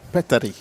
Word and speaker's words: Petteri: It's Petery or Peter? Petteri. Petteri, okay.